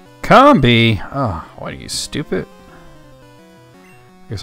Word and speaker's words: Combee: slashed you pronounce it Combee it's probably convey now I think about it cuz like honey comb comb being yeah makes sense see